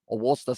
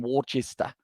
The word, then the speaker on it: Worcester: as well, and also Worcester is pronounced Worcester, sorry. And there as well, that is true, rather than Worcester.